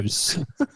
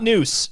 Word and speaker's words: news: news. News, not noose. News. Oh, News in hand. Yes. important distinction. Important that you notice the pronunciation there.